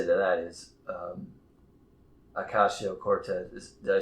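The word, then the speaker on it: Ocasio-Cortez: Yeah, but um, but what I have to say to that is Ocasio Cortez.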